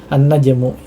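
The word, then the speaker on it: النجم: Jadi sini ada an-najmu, ya. An-najmu ini adalah alif lam apa? Syamsiyah, ya, karena di atasnya ada tasydid, ya. Kemudian dia lamnya tidak dibaca, ya, meskipun tertulis di kitab, ya, tertulis di kitab, ya.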